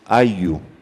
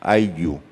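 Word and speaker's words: ayllu: It's Ayu. That's the way it's pronounced, Ayu. It's spelled A-Y-L-L-U. In Spanish, double L has the sound of a Y.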